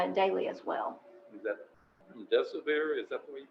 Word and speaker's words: remdesivir: Is that remdesivir? Is that the way you pronounce it? Yes, remdesivir, yes, sir.